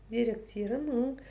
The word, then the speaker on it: деректерінің: Сначала читаем то, что знаем. Деректер. И идет окончание ыну. Деректер, ыну. Но читается все вместе, как одно слово. Деректерину.